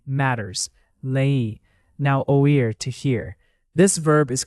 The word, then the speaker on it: oí: Oí has two clear vowel sounds. O-E. Don't crush it into one syllable. Let it breathe a little.